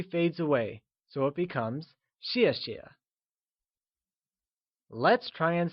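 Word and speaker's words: 谢谢: away so it becomes xie xie let's try and say xie xie once again it is said with a falling tone like xie xie since thanks translates to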